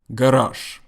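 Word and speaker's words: гараж: But in Russian, it's always garage. Listen how I say garage one more time. I don't say garage, but Russians say garage. It is spelled G-A-R-A-G. So it is spelled garage, but pronounced garage.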